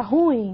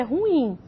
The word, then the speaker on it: ruim: a drasticamente fiquei ruim as pessoas até falam de forma errada né pronunciam aí de forma errada ruim não é o correto é ruim você tem um hiato e o hiato tony